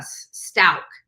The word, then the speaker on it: Stauch: wrong and it's uh Stout that's how you pronounce her name Leticia Stout so a lot of people have been calling her stock like me it's not stock it's not Scotch it is Stout that's how you pronounce